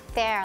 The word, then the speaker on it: there: But for there and where, you hear the sound eh. Tricky words หรือคำศัพท์ต้องจำของเราวันนี้นะคะมี2คำค่ะคือคำว่า there แล้วก็ where นะคะเด็กๆเด็กๆยังจำมหัศจรรย์ตัว E